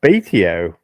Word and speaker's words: Batio: We are big fans of him, and apparently it's Batio. Because I was watching his videos on Instagram today, and I've been pronouncing his name wrong for years.